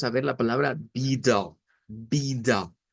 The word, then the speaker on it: vida: De acuerdo al portugués de Brasil, va a sonar con una A media al final. Vida. O sea, nosotros decimos vida hacia frente, la A, pero en portugués la entonación de esta palabra es diferente, puesto que la sílaba tónica es la primera, bi, y esta va a sonar a da, vida, vida.